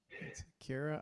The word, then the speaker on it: Kira: that okay kir I realized I was saying your name wrong the entire Kira I'm muting your mic